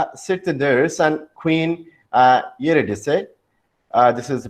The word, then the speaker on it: Eurydice: Next to the sisters sit the nurse and Queen Eurydice. This is the pronunciation of it.